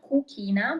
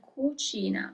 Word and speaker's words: cucina: It's not cucina, but cucina. The group CI is written always as C, and that means kitchen.